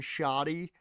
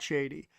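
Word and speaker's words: Shadi: um pronounced his name shotty in uh the Yu-Gi-Oh anime. So, I will always think S h a d i is shoddy and not shady, no matter how much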